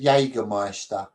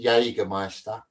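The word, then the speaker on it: Jägermeister: My whole life I've been calling it Jagger Meister. There's no S in it.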